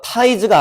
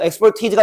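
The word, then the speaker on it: expertise: because 오 of뒤에 exp즈다 발음 기호는 어 타이즈가 아니야 참고 그러니까 타이즈가 되면 품사가 달라지거든 어 exp티즈가 전문 지식이란 뜻이야 어 전문 지식 자 전문가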